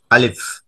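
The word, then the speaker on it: ألف: আলিফ হরফের উচ্চারণের সময় মুখের ও গলার খালি জায়গার বাতাস দু ঠোঁট দিয়ে বের করে দেওয়া হয়, অর্থাৎ আলিফ আলিফ।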